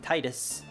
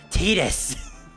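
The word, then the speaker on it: Tidus: first game call him simultaneous simultaneously tus and Titus and then the second game do the same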